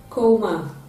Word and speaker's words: coma: The given word is pronounced as coma, coma. And the underlined sound is a ho, the diphthong ho represented by O in spelling.